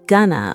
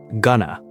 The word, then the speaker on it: gonna: It's not going to, and it's not even gonna with 2 clear syllables. In fast natural speech, it sounds like gonna or even gonna. The vowels blend together.